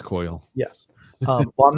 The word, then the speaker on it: Coyle: How the hell do you pronounce his name? Coyle? I don't know. Coyle. It's Coyle. Yes. Well, I'm not going to go with how you pronounce Coily, it.